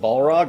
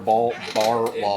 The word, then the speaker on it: Barlog: Is it Balrog or Barlog? No, I said it right the first time. It's Barlog. Okay.